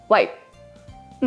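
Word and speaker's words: wipe: ワイプうん。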